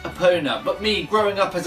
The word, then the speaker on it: Epona: and before you comment below I know it's pronounced Epona but me growing up as a kid I've